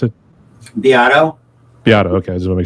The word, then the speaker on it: Beato: And I do remember Rick Beato, or how do you pronounce it? Beato.